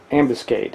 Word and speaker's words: ambuscade: Now, here is an extra copy that I have of the Villain Ambuscade. I think that's how you pronounce it, like ambulance, but ambuscade.